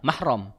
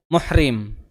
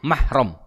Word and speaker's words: mahram: tegaskan mungkin agak asing yang bener itunya secara bahasa asalnya mahram kita suka populer muhrim eh jangan deket-deket kenapa kita akan bukan muhrim padahal ejaan yang benar dari Arabnya itu mahram nih orang yang haram